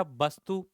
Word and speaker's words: वास्तु: है वास्तु ठीक है सिर्फ अ की मात्रा का फर्क है अब कौन सा वास्तु मैंने बोला वस्तु और एक है वास्तु अंतर है उच्चारण से पता लग रहा है वस्तु और वास्तु वस्तु